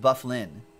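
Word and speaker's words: Byfuglien: Dustin by few give by fugle if you glean lien which apparently is pronounced buff Lynn doesn't doesn't read like that definitely doesn't read like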